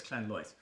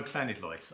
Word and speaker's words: Llanidloes: It's Llanlois. Oh, Llanidloes, I'm told. Yeah, I've had to learn some Welsh pronunciation too.